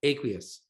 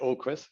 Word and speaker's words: Aqueous: And this most recent PR, how is this soil sampling at Aqueous? We pronounce what does it mean we pronounce it Oquis. I know it's a really strange spelling.